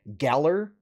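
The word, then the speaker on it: Galar: in like this it's set in the Galler region is how they pronounced it so basing it kind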